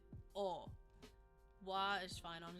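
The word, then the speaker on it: を: O is another exception here. We don't pronounce it wo. We pronounce it o.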